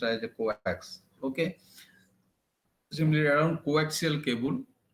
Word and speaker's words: coax: Okay, it is also known as, sometimes known as your coax and pronounced as a coax.